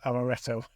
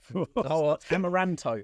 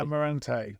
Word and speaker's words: Amaranto: Amaretto. Amaranto. I'll get told off if you don't say it properly. Yeah, Amaranto.